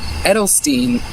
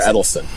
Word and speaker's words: Eccleston: Edelstein. Christopher Eccleston. Edelstein. Edelstein. There's no T in there. Or, no, not Edelstein. Eccleston. It's C's, not D's.